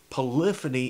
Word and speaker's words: polyphony: polyphony means now polyphony let's break that up into the base words you've got poly and phony it's pronounced polyphony when you put it all together but poly means many and phony means sounds like phonics phony ok so many sounds polyphony polyphony alright now when you